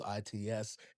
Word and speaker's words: itsTeamBLAST: It's JDELICE, and anything tied in with itsTeamBLAST. That's 3 syllables. itsTeamBLAST.